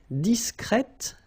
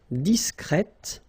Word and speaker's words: discrète: Okay, you're pronouncing the T. Okay? Complet, complète, complètement. Discret, discrète, discrètement. Okay, so one more time. Secret, secrète, secrètement. Complet, complète, complètement. Discret, discrète, discrètement.